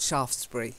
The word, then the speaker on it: Shaftesbury: got statues all over Shaftesbury not SH afters it's a silent E so Lord Shaftesbury okay yeah that and